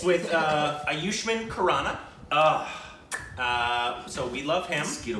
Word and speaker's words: Ayushmann Khurrana: channel our stupid reactions and it's with uh aayushman kanana uh so we love himito bites from AR